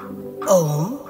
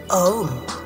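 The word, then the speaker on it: ॐ: Om is a composite of three sounds, A, U, and M. It has to be pronounced using rising in a crescendo as slowly as possible and as gradually coming down until there remains only the echo of the silence reverberating in the cavity of your heart.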